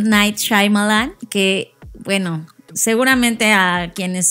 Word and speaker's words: Shyamalan: que la gente se ha inventado formas de pronunciar yo ya vi como él se presentó a sí mismo y es shalan o sea no sé por qué mucha gente dice shyamalan no sé qué es enre que lo lees